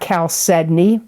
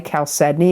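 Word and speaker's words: chalcedony: the energies in September of 2025, you got calcedney. I'm going to spell it. C H A L C E D O N Y. Caledney.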